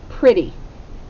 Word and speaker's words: pretty: blend at the beginning now it's spelled with an e it sounds like an